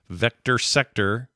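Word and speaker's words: VCTR-SCTR: a vector mashup called Vector sector which is spelled vctr sctr uh he says it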